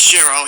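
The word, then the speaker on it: Chiro: sure sheer o let me give myself a pronouncer there well not like she it's sherro you know since my mom we're Italian family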